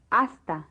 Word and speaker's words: hasta: to the end is remember that the H is never pronounced in Spanish listen hasta now listen and repeat